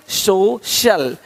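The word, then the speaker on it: social: अब देखो, यदि सी के आगे आई ए हो तो सी का उच्चारण श होता है। क्या होता है? श होता है। क्या लिखा हमने? सोशल, सोशल, सोशल।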